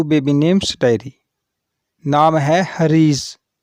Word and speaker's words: حریض: وبرکاتہ۔ Welcome to baby names diary. نام ہے حریض۔ حریض نام کے انگلش میں سپیلنگ ہے HAREEZ۔ حریض۔ حریض نام کی جنس